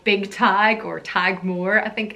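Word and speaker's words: Tadhg: on my list is the name tag spelled ta DHG and this is a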